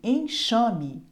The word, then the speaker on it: enxame: som diferente por exemplo em enxame esse X tem som de x em exame o X